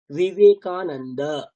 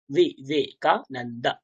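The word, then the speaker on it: विवेकानन्द: বিবেকানন্দ, বিবেকানন্দ। আমরা বাংলায় বলি বিবেকানন্দ, কিন্তু সংস্কৃত উচ্চারণ যখন করব তখন হবে বিবেকা, নট ব, কারণ এই দুটোতে পেট কাটা নেই, এই বয়ের কথা বলা হচ্ছে।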